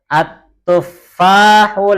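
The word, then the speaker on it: التفاح: At-tuffahu ladzizun. At-tuffahu ladzizun. At-tuffahu ladzizun. At-tuffahu ladzizun. Fa-nya ditasydid. At-tuffahu ladzizun.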